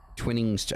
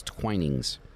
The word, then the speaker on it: Twinings: I've called it twinnings twinnings apparently it's not twinnings it's twinings I was not aware